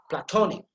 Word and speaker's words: platonic: Then here you see second syllable again, tonic, platonic, ta sound is emphasized.